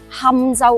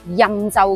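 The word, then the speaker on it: 钦州: 其實當地人多數都係讀堪州，唔讀欽州嘅，甚至好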